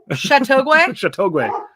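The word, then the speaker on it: Châteauguay: children expressed great concern you said it right chateauguay yeah so um they expressed great concern despite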